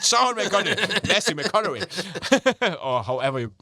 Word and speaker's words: McConaughey: you said McConaughey.